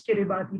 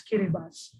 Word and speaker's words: Kiribati: And just this afternoon, I was reminded that Kiribati should not be pronounced as Kiribati, but rather as Kiribati, the only country that